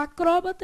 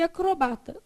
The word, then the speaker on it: acrobata: Assim é correta acróbata e acrobata. Trata-se de formas variantes.